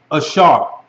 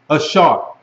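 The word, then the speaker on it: אשר: And it's Ashar. Ashar. AHSAR. Ashar. All right, but you can spell it ASHAR. Ashar. That's how a lot of people spell it.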